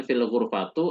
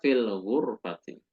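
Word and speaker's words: في الغرفةِ: Ya, maka teman-teman tidak membacanya dengan fil ghurfatu atau fil ghurfata, melainkan huwa fil ghurfati.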